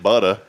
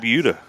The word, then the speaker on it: Buda: So you got Hutto, just like Buda, they call it Butta. I call it Buda.